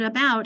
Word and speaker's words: about: Well, that's where we have to remember, I know you want to write it with you, but in this case, the word about, where people might are